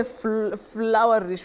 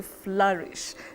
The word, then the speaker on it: flourish: teaching us those pronunciations like we don't say flowerish we say flourish now we know flourish flourish to flourish